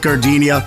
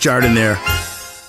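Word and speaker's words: giardiniera: Hey guys, when you're at the counter, don't call it gardenia. It's pronounced jardiniere.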